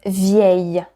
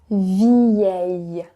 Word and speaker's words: vieille: Vieux becomes vieille. Vieille. That one is not easy, I know. Vieux, vieux. Vieille, vieille.